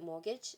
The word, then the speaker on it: mortgage: the word for example did you guys know that mortgage is spelled with the t take a look at